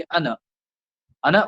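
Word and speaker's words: أنا: पर आना नहीं पादना ये अलिफ साइलेंट है ओके अन्ना मैं और इंग्लिश में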